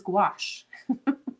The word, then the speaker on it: gouache: now I don't remember it's like kind of like squash but it's gouache let's go ahead and